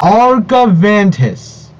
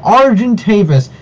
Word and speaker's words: Argentavis: argoventus what what the argumentus but argentavis how could you screw it up so bad at least when bright side misspelled stuff they either added one letter or missed one letter but how you pronounce it is an absolute monstrosity how how is this